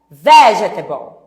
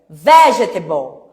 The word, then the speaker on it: vegetable: Põe um acento no v. Vegetable. Então, ó, tá vendo que é quase o mesmo som? A sílaba forte é a primeira. Vegetable.